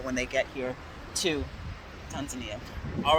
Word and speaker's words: Tanzania: it that way because there's a couple of ways to say it tanzania yeah that's the way the locals say it so i'm trying